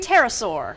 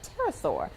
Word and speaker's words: pterosaur: So this one, pronounce it for me. Pterosaur. Pterosaur.